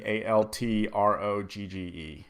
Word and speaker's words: Altrogge: pH like Stefan curry and then altro be alt rog GE and yes Stefan curry